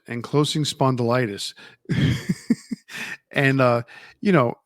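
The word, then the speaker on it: ankylosing spondylitis: Enclosing spondilitis. That's how you pronounce it. Enclosing spondylitis.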